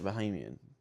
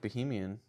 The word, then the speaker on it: Bahamian: our years of friendship, you still can't pronounce my like nationality correctly. Bahamian? Yeah. Sorry, Bahamian. I feel like Bohemian. Was that like really wrong? You said Bohemian. A lot of people say Bohemian. I'm like Bahamian?